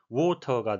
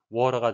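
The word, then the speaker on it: water: 있겠습니다 워터 무리란 단어인데요 영국식 발음과 미국식 발음의 차이를 극명하게 보여주는 단어입니다 영국식은 워터가 되겠고요 미국식은 잘 아시듯이 워러가 되는데요 하나는 사전에 등재된 대로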